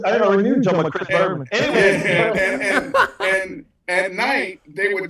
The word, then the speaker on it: Berman: You know, his last name rhymes with Herman. I already know. I already knew John Chris Berman.